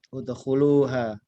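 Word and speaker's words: ادخلوها: Tapi ini tidak dibaca kasroh. Untuk yang ini dibaca dhammah. Udkhuluha.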